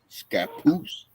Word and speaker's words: Scappoose: The town name Scappoose? Is that how you pronounce that, Todd? You know, Josh? What? Unfortunately, it's the No, northeast wrong side. Josh. The other Josh. How do you Scappoose. pronounce that?